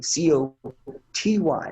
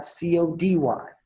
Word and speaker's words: Coty: Now, for the people who don't know you and want to look you up, her name is Coty with a T, Coty, not Cody.